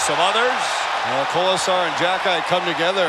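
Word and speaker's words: Xhekaj: Jacki's name in the back of his jersey, Shane. X-H-E-K-A-J, but pronounced Jacki.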